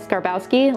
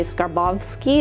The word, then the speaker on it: Skarbowsky: added to it um I'm American so I have always said scar Bowski like we say the big Labowski um but uh Jean charos himself told me that it's actually skarbowsky a little bit with